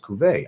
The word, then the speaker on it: Cuvée: Cuvée is pronounced Cuvée.